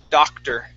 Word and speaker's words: doctor: And our last word is doctor. Okay, the O-R, instead of an O-R sound, we give it an E-R sound.